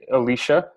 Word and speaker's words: Elisha: All of it, but if you don't mind a little bit of clarity, with the pronunciation of the name, it's actually Elisha. So Elisha.